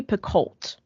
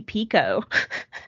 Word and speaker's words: Picoult: The way I think most everyone pronounces her name is Jodi Picoult. That's how I've always said it. Same. It's Picoult. Right. And she got on TikTok and was like, y'all, my name is Jodi Pico.